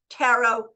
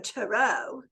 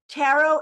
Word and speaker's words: tarot: you know which bird you probably shouldn't say tarot as rhyming with parrot tarrant yeah no gross but